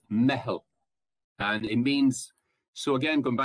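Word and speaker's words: meitheal: It's M-E-I-T-H-E. I think it's probably Fada L. Maybe I'm not sure. But it's pronounced mehel.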